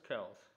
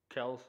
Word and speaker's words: Kelce: This Chiefs fan tells me that Travis Kelce, and that is the correct way to say his name. He has come out and said that it's not Kelce, but they just go with it because that's how everybody says it.